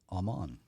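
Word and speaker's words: אמן: the uh Strong's number is Hebrew 539 uh pronounced Aman and the actual Strong's definition is to confirm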